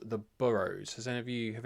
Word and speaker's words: Boroughs: show that I always want to call the Burus because it's spelled like in England we would say Burough, but everyone in the show refers to it as the Burrows.